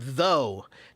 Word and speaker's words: though: people about the word though t h u g h right why do we pronounce the word though t h o u g h with all those silent letters on there right the the reason